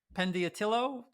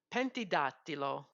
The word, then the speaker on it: Pentidattilo: Is it Pendiatillo? Am I saying it right? Pentidattilo. Pentidatilo, right?